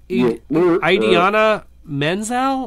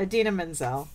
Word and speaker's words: Idina Menzel: Idiana Menzel?